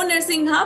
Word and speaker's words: नृसिंह: परतो नृसिंहा नहीं, इतो नृसिंहा परतो नृसिंहो। और नरसिंह जो है नरसिंह वो एक ही बारी आता है, उसके बाद जितनी बारी भी आता है वो नृसिंह आता है।